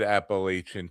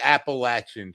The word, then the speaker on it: Appalachian: because you you said Appalachian too and I've gotten in so much trouble from people from from Georgia. It's the Appalachian Trail and I get Oh, you say it like a northerner.